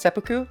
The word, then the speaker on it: seppuku: you turn your back it's pronounced seppuku how does seppuku thank